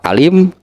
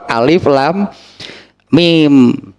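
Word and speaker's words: الم: Jadi kalau baca surat Al-Baqarah jangan dibaca alim, alim, lain alif, itu alif, lam, mim.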